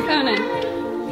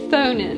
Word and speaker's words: Thonin: My name is Thonin. what? Thonin. What now, is there a way to remember that? It rhymes with Bonin, which would be my nickname if I was in a college frat.